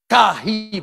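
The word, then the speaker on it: καί: dipakai kata Kahi k a h Dou e Kahi bacanya Kahi itu diterjemahkan ke Indonesia sekaligus Jadi kalau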